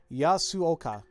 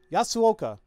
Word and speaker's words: Yasuoka: Oh, it's four syllables. Yasuoka. Yasuoka. Yasuoka.